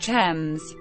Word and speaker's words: Thames: It's pronounced Thames. Thames.